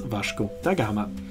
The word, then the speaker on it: Vasco da Gama: name is also pronounced Vash dagama the Portuguese way to pronounce it it's also the pronunciation